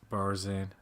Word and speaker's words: Barzan: Barzan. That rhymes with Tarzan.